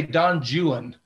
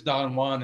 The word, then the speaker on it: Don Juan: Well, actually, the British say Don Juan. If you look at the rhymes, Byron uses Juan to rhyme with other words. So obviously it is Don Juan in the correct pronunciation.